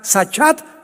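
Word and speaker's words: שחת: La palabra corromper también es importante porque la palabra hebrea sachat se escribe con S de Samuel y CH, como suena sachat con T de tío al final.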